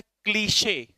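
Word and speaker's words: cliché: इस वर्ड का प्रोनाउंसिएशन क्या है? क्लीशे। क्या सर, हम तो इसे क्लिच पढ़ रहे थे, क्लिच नहीं, क्लीशे।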